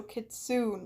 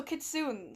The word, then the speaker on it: Kitsune: It's how you're pronouncing it, but it's without the A sound at the end. So Kitsune, like Dune, but soon. Oh, so Kitsune.